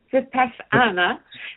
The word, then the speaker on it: Vipassana: Does Vipassana, am I pronouncing that correctly? Vipassana suppress Vipassana.